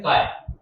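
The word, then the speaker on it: χ: Symbol होता है, ठीक, इसको बोलते हैं काय, ठीक है, CHI स्पेलिंग है इसकी CHI, और आप चाहो तो जो मर्जी वो बोल लो, ची बोल लो या काय बोल लो, एज यू विश, ठीक है।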